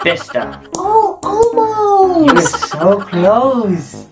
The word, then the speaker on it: Bicester: Bicester? Nope. Bicester? Nope. Bester? Bester. I don't know, maybe the sea is silent. It's Bester.